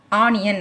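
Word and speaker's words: onion: ஓகேயா, இந்த ஓ வந்து ஓலையே ஆரம்பிக்காமல் ஆனியன் அப்படின்னு ஆள ஆரம்பிச்சிருக்கு. ஸோ அந்த ஓங்கிற உச்சரிப்பை விட்டுட்டு ஆங்கிற உச்சரிப்பில் வந்ததுனால நம்ம ஆன் கொடுக்குறோம்.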